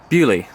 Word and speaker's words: Beaulieu: Bewley, that's it.